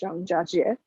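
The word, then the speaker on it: Zhangjiajie: for this can you help me with the pronunciation and just walk us through these images this is a city called zhang jiajie and it's in the hunan province of china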